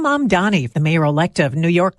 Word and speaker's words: Mamdani: And Zohran Mamdani, the mayor-elect of New York, also one of the year's most Googled names, says it's Zohran, not Zoran, and often gets Mandami or even Zamdani.